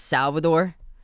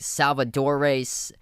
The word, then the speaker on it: Salvador: Because my full name is Salvador, but people get it confused. They're like Salvadore, Salvatore.